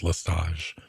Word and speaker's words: Lestage: our youtube channel that the t in his last name is not pronounced i don't know i've heard it just listage but uh we'll find